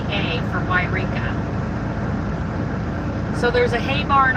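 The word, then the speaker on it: Yreka: you could also Google cow sculpture WIA California that's spelled y r e k a for yka so there's a hay barn off to my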